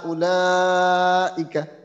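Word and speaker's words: أولئك: উলাইকা। হ্যাঁ, এই ওয়াওয়ের উচ্চারণটা এখানে নেই।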